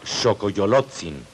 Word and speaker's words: Xocoyolotzin: Sabemos que este personaje se llama Xocoyolotzin, nombre formado por las sílabas Xo, Coyolo, Tzin.